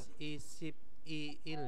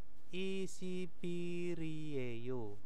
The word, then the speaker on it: 21일이에요: nah, bacanya bukan isip iil ya, bukan. Jadi ini digabung ya. Ini kan 20 kan isip ya. Terus il ya il. Nah, terus hari kan ireyo. Nah, seperti itu. Nah, ini kan hari ya. Ini harinya ya. Berarti bacanya itu adalah yuwol isipiriyeyo ya, digabung, jangan dipisah-pisah ya.